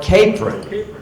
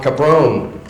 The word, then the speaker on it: Capron: long since dead, that the only way to pronounce that was like apron. Fort Capron. Cuz I always said Fort Cabrone.